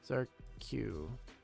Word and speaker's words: Zarq: Zark. Zarq. Oh, okay. Zarq. Zarks. The X is silent. So, Zarq.